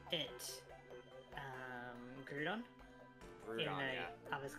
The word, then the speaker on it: Groudon: I think that, like ground, like Groudon. Groudon. But I guess it's because like of all the U's we have in our words, like in the Australian words, that Groudon also kind of makes sense.